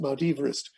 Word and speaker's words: Mount Everest: done by Sir George Everest, reminding us that Mount Everest should actually be pronounced Mount Everest.